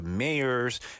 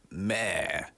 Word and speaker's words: mayor: We usually elect people like presidents or the mayors. mayor이라는 발음의 차이도 저희가 한번 짚어봤죠. 영국에서는 mayor 이렇게 하고요. 굳이 북미에서는 mayor.